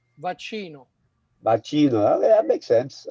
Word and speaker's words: vaccino: I know it's vacuna. Vaccino.